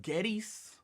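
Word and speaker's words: Goetze's: I can't pronounce the name. GOETZE''S. Getsy's.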